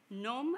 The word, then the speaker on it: Nome: is or the town it's called gnome i think so this that's the way they pronounce and um do you